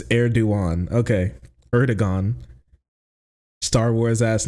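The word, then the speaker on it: Erdoğan: I've always heard erduan but bro just said erdogan is that not true is that that's not that's not how you pronounce his name actually right yes it's eruan okay erigon Star Wars ass name you stop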